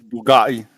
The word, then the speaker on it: Bugatti: Pronouncing it wrong. It's pronounced Wow. Bugatti. Bugatti.